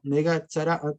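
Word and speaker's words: נגע צרעת: Entonces miren, aquí estaría la letra N, aquí estaría la letra G, aquí estaría una comita, ¿no? Aquí estaría la letra TZ, aquí estaría la letra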